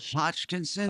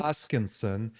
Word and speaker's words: Hoskinson: Hutchkinson. Hoskinson. And he's one of the Why don't you spell that to me?